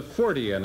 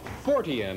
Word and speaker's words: Fortean: Our next guest is a Fortean, and we'll find out exactly what that is from him.